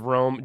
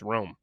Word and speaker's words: Romm: Just if anyone's listening to this on Spotify, we are saying Romm. It is spelled Romm. So absolutely, I made the mistake of Rom before we started, but it's Romm. It's shortened from Romanoff.